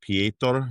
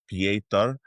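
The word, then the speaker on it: Petr: Um, Rob Dwallis is going to take on Ptor Yan. That's how you say it, I guess, in in his native language. Per, but it's spelled Peter.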